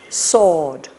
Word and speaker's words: sword: don't pronounce the w sword it's the w is silent yes so she shall